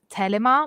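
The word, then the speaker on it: Thelema: so um crowley or thelima so which actually in greek it's a greek term and in greek it's actually pronounced telema but i know the english speakers pronounce it the lima so i'm going for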